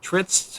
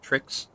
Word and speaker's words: Tritz: So, you notice that Tritz has because of the fact that he wants to become a wizard type of goblin, and the fact that one of you mispronounced their name as Trix has Hey, that was has trick.